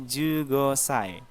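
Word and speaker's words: 十五歳: Jadi 10-nya Ju, umur 5 Gosai. Jadi digabung jadi Ju Gosai.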